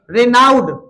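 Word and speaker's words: renowned: इसका मतलब रनाउड लर्नड लिखो बेटा यह वर्ड आता है रनाउड। और रनाउंड की स्पेलिंग देखना।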